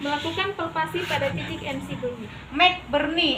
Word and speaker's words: McBurney: Melakukan palpasi pada titik MC Burney. McBurney, MC itu tulisannya McBurney, bacanya Mac sama kayak McD ya, McD.